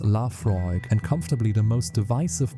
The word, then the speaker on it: Laphroaig: Number three, Laphroaig 10, pronounced "La Froyg" and comfortably the most